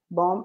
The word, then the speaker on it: bomb: Bomb, remember, without the B, a silent letter. Bomb and bombardment.